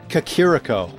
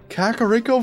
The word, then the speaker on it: Kakariko: or 12 probably but I always mispronounced to this Cocorico for some reason I didn't see the other three syllables I don't get why